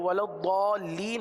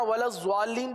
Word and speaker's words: الضالين: ولضالین آواز کو بند کر دیا جاتا ہے، ضال کے بعد ضالین، اللام تو حذف ہو گیا ایک طریقے سے، ہے نا. ضال لام دو مرتبہ پڑھا جاتا ہے، ایک ضاد کے ساتھ ضال، کس طرح ضال، کس طرح ضال، اور دوسرا لین. صحیح، یہ دو ہو گئے. اب سنیے، ضالین.